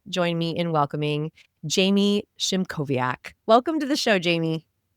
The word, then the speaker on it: Szymkowiak: Please join me in welcoming Jamie Shimoviaak.